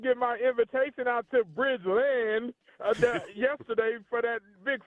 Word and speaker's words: Bridgeland: Toro district, said that it's pronounced Bridgeland, L D, not Bridgelind.